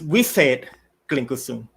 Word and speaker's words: Wisate Klinkusum: It's Wisate Klinkusum. That's how you pronounce it.